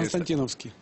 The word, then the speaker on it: Константиновский: Алексей, одну секундочку, я просто хочу напомнить, что господин Константиновский, я правильно говорю, или Константиновский, как правильно ударение? Константиновский.